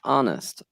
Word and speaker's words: honest: Actually, for once, the H is silent. Honest, honest, not honest, honest.